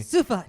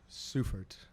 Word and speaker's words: Seufert: Yes, it's German, so you have to say it like you're yelling at me. Seufert. No, but it's Seufert.